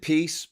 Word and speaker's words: PiS: peace and Justice party um piss y they pronounce it peace but I like to call it the piss